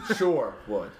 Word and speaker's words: Sherwood: No, sure, not share. Not Robin Hood. Sure. S-U-R-E. Oh. Oh. Yeah. Oh, okay. That changes things. Right. Sherwood.